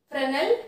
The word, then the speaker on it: Fresnel: not a present diffraction that s is silent so its correct pronunciation is fresnel diffraction clear algebra so